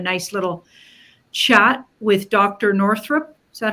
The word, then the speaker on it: Northrup: Northrup.